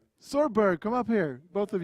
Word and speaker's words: chorb: So we will be heading over to the next couple of players, which are SAMURAIJACK and well, how's it pronounced? Chorberg.